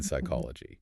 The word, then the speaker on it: psychology: An editor of the Oxford English Dictionary actually demanded that English speakers restore the P in psychology. Yes, he did. He wanted everyone to match the French and the German pronunciations, where they still sound out the P right before the S.